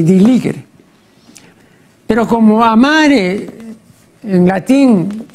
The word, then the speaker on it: diligere: Ahora, la castellanización de diligere, este diligere se pronuncia así, ¿no?, como si fuera la G de guerra, ¿no?, pero es la